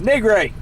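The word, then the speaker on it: Nigri: Jessica NRI you know I said her name wrong before NRI um it's not NRA it's NRI get my energy drink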